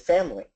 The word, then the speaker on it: family: way with uh with family f a m i l y we don't say the i in family but it comes out in the word familiar